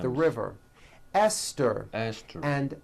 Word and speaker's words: Esther: spelled with a TH, they are pronounced as if they were spelled with a normal T, like that. And these words are Thomas, Thompson, Teresa, Thailand, Thames, like the river, Esther, and time, which is a spice.